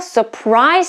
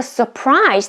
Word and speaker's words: surprise: him with a party it's a verb so the stress falls on the second syllable and what a surprise they gave him here the surprise is a noun but we put the stress on the second syllable so these two are the exception so please keep in